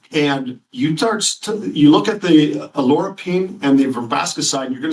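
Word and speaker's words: oleuropein: Now, the olive leaf extract has something called alorapine. And although it's pronounced different ways, if you hear it, alorapine is how we're pronouncing it.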